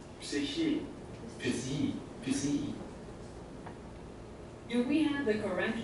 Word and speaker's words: Psyche: 所以那个普赛克，它根本就不是克哎，它是 he 的音哎，超酷的。